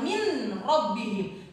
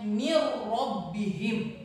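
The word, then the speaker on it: مِن رَّبِّهِمْ: Contoh min rabbihim, nun sukun menghadapi ro, bukan dibaca min rabbihim, tapi dibacanya mir rabbihim.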